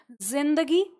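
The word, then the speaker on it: ज़िंदगी: तो इसीलिए हमने जब हमें शब्द लिखना था जिंदगी, तो हमने इसके नीचे क्या लगा दिया? नुक्ता लगा लिया। अब इसका जो उच्चारण है, हम बोलें जिंदगी तो हम उसे लिख पा रहे हैं, और जो लिखा हुआ है तो हम इसे बोल पा रहे हैं।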